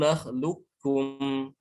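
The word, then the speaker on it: نخلقكم: Alam nakhluqukum, nakhluqukum. Jadi qafnya seakan-akan hilang. Jadi ini bacanya seperti ini.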